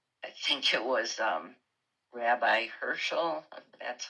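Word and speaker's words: Heschel: I think it was Rabbi Herschel, that's how you say his name, he was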